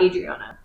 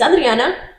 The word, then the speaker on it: Adriana: But I always make sure, especially now, I make sure to pronounce my name the correct way. Yeah. So that people understand that it's not Adriana, it's Adriana.